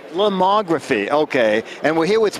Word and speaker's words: Lomography: No, actually, we're here at how do you pronounce the name of the company? Lomography. Lomography, okay.